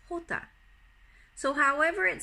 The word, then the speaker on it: jota: the letter J now the letter J is spelt in Spanish J ot8 but it is pronounced hota so however it sounds